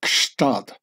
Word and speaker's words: Gstaad: even when speaking German you'll break your tongue over the pronouncing of Kad which is not really German and with no less than three consonants following each other up a g an S and A T more sounding like the